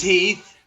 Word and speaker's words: Heath: god rest his soul is it hath or heath it's heath you just made fun of me for maine me i know no i don't know legend i don't know how to pronounce the guy's name like a heath bar heath bar yeah yes